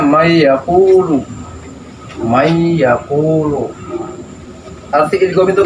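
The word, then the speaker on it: من يقول: Asalnya man dengan yaakulu. Karena nun ini nun mati ini menghadapi ya. Ya. Dibacanya may yaquulu.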